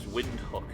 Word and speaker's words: Windhoek: the capital of namibia is windhoek and it's spelt quite like wind hook but that's not my intention so if you like